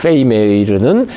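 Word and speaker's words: Vermeer: 그니까이 베르메르는 페메 메이 그 네덜란드식 발음으로 어 그 페이 메이르는 울트라마린의 화가다 울트라마린을 너무너무너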